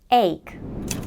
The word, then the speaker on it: ache: a tooth pain etc ache the pronunciation is pretty simple it's a one syllable word with started with the a diphthong and then we have the K sound ache example sentence I've